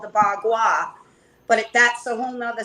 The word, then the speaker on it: Bagua: A bagua, which is a tool that I was taught how to use with feng shui.